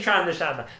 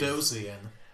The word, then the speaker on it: Trandoshan: I'm saying Trandoshan because it's correct. Fat Trandoshan. I refuse. Trandosian. That's not even how it's spelled.